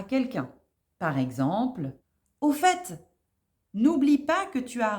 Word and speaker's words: au fait: à la 8e expression au fait oui on prononce bien le T à la fin au fait est souvent